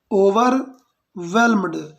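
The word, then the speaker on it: overwhelmed: देना है, यहाँ पर एच साइलेंट है, तो आपको पढ़ना है वे से पढ़ना है, वेल्म्ड, ओवर वेल्म्ड, वेल्म नहीं, वेल्म गलत है, ओवर वेल्म्ड मतलब होता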